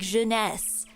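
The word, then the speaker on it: jeunesse: And I realized I'm like, "Oh, it's supposed to be pronounced like janess." Cuz like janesses means like youth in um in French.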